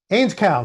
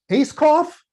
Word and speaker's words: Ainscow: "Ainscow, sir." He picked up the roster. "Acecoff?" Rarely had my name been mispronounced so badly.